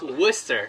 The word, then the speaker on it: Worcester: The College of Worcester. No, it's okay, I'll correct you. It's Worcester.